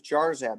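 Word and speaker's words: Jarzab: your what's your last name last name is jar zab it's spelled j-a-r-z-a-b all right thank you all right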